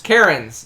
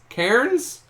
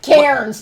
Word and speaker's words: Cairns: Karen's. There we go. I didn't think I was saying it right. All right. So, Still not. Karen's. Cairns.